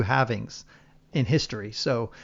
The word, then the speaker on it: halving: I thought it had more halvings, but or halvings. That would be correct. There's 2 pronunciations. I usually say halving because it's half, but I've heard this Tim Draper, who's a billionaire, he said halvening.